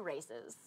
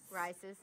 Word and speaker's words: RAICES: will donate $5 to Races. The not Yes. racist. Rices. Rices. Rices is how you say It's Rices. Don't make that mistake if you Wait, do it you're on the both phone. saying different things. It's rices. Rices.